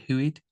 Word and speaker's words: HUID: a startup business called Hued. Is that how you pronounce it? Hued. out. Actually, it's a Dutch word, so it's another confusing thing there.